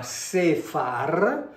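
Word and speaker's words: ספר: E quindi qui andiamo a mettere, diciamo, una E molto breve, molto molto breve, e una A, quindi qui siamo a Sefar, che significa censimento, significa anche nome di luogo, significa conto, significa anche enumerazione.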